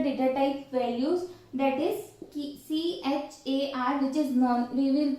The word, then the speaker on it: char: using for character data type values, that is CHAR, which is we will pronunciate, that is char.